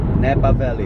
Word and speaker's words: Napa Valley: Randomness and I can even can you guys pronounce Napa Valley Napa Valley Napa Valley very good so you can do it but we like Napal Valley more it is hilarious look if the reason